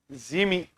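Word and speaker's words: Zmiinyi: Zmini or Mini, Z silent are Zmini Island.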